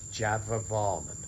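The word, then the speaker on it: Jayavarman: in my excitement i've mispronounced the king's name in this one it's java varman hello and welcome again to forgotten temples with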